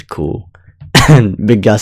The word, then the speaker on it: Kou: The funny thing about the pronunciation cool, like it translates to the word arse in Portuguese.